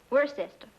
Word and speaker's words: Worcester: something else too dark but it's spelled w-o-i-c-e-s-t-e-r we're a sister oh yes that's he